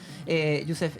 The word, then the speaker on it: Yousef: Youssef es filósofo de la Universidad de Girona. ¿Lo dije bien? ¿Lo pronuncié bien?